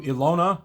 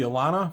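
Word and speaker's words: Ehlonna: next we go to ilona or ilana depending on how you say it for whatever reason it should be alana for whatever reason my campaign we started calling her alona and it's just stick so elona for me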